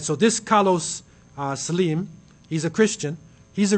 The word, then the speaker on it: Slim: Salim okay so they this looks like slim you would say Slim in English but it's really Sim like his name he's Mar he says Simi right so this caros Sim he's a Christian he's